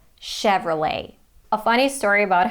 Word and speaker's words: Chevrolet: true but sure and not let but late Chevrolet a funny story about